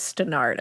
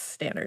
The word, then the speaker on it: Stannard: of Mary Stannard and I looked up the pronunciation to say it because I thought it was stenard at first but it's Stannard I could see why you would think that